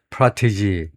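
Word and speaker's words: protégé: 심지어 자기 자신을 키운 자기 자 자기가 키운 프로테지 프로티지 아유 발음을 발음 때문에 그걸 찾아봐야 되겠습니다. 모르면 뭐 할 수가 없죠. 자식이 찾아야 되는데요.에 그래서 바로 엑센트가 앞에 음전네. 앞에 음절의 이름절에 프라티지 프라티지라고 발음을 해야 되겠네.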